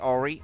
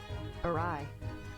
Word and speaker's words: awry: Alright, Ori? Oh, I think it's alright if you pronounce that right. Awry. Awry.